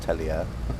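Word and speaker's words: Telia: So, it's almost like when you're in Sweden, you sort of say it like Tellier. So, it's uh it's almost sounding like how it's written.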